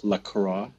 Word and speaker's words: La Croix: exploring the cult of lacro yay they pronounce that right lra there are two ways of saying it many people who are fancy like to use the French way to go with lro and then there is